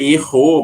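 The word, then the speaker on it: héros: caso da palavra herói em francês É err mas o h ele não é considerado H mudo então eu não posso fazer aquela junção sabe de o je ou de e ou de juntar né o a a palavrinha com o com a palavra juntar por exemplo o artigo com a palavra não vou falar eu não posso falar L juntando eu tenho que falar le e separado apesar de ser H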